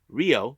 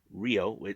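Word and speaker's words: Rhio: singles match we have Rio not rho Rio this one's pronounced with the RH IO let me spill it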